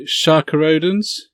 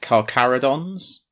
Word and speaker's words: Carcharodons: But there's I can never pronounce this right, Sharkarodens novel as well. Is it? Not that I'm the one to come to for pronunciation, but I've always heard it Carcharodons. Carcharodons, that makes much more sense than how I've been trying to say it.